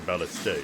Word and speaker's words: ballista: our way through this ballista or ballast day as some might pronounce it cool got that side